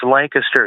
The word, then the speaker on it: Lancaster: Uh Conor Connor from Lancaster, Pennsylvania. I've been there, my friend. Yeah, Tony, I just want to say it's pronounced Lancaster here by the locals.